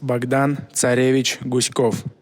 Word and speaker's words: Bogdan Tsarevich Guskov: And what you need to listen for is that he emphasizes the second syllable in both his first and his last name. Cody Bone Marrow, take it away. My name is Bogdan Tsarevich Guskov.